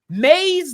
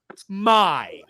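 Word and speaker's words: Mai: out of the way May's name is spelled wrong because it is spelled m a a i which would mean that it is pronounced my but they say it may I got very confused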